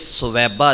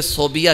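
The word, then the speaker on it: ثویبہ: سویبہ نے۔ عمومی طور پہ لوگ اسے صوبیہ کہتے ہیں، لیکن یہ تلفظ کی غلطی ہے، ان کا نام سویبہ ہے۔ سویبہ انتہائی نفیس عورت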